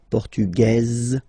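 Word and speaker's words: portugaise: The Feminine form okay masculine portug you don't pronounce the S feminine form portuges you pronounce this z sound okay and then ESP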